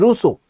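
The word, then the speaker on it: Rousseau: Hobs, lock and russo. The pronunciation is Russo.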